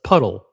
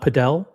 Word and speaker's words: padel: So it's puddle. Puddle. That's how you pronounce it. Puddle. It's not Podell.